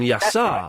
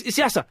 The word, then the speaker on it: Yasser: the first caller, and Clive was accidentally mispronouncing his name, calling him Yassar. Right. I heard that. There was 10 minutes of Yasser going, no, it's Yasser.